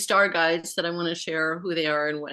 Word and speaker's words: Tosha: Tosha but it's pronounced Tosha the accent like like yours is one of the interesting layered names I call it layered um but uh when you say Tosha with the accent on the end it's a in uh